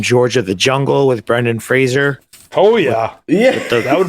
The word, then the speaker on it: Fraser: say his last name Brendan Frazier Fraser we've all been saying it wrong yeah it's like laser but Fraser like laser taser like it [ __